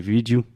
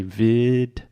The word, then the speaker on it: video: This is another word that I just hear Brazilians almost just use Portuguese pronunciation and say vídeo. But in English, we say video. Video. So first we have a hard D sound, vid, and then we really exaggerate the O at the end.